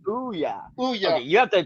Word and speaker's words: Ouya: Hypothetically speaking, is his son named Oya? That was a failed video game system. I'm sorry, I don't. Yeah. Oh, the Ouya. It's called Ouya.